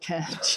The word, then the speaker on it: Kant: And then, so Kant, he wants, Kant, Kant, you're right, you've got the right pronunciation.